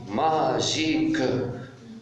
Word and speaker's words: magique: G suivi de I, ça donne J. Magique.